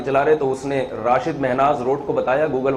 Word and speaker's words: راشد: ہمارے قومی ہیرو تھے، ان کے والد نے ان کا نام راشد رکھا تھا، رشید نہیں رکھا تھا۔ تو زبان کے اختلاف سے نا تھوڑا سا تلفظ میں فرق آ جاتا ہے۔ ایک ان کا مورخ